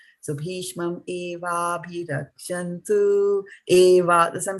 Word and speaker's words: evābhirakṣantu: So either you say bhīṣmam evābhirakṣantu or evābhirakṣantu, right?